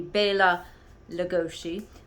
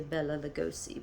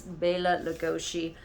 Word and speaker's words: Bela Lugosi: If you know the correct pronunciation, Hungarian pronunciation, it would be Bela Lugosi. Some people say Bela Lugosi, but it's Bela Lugosi.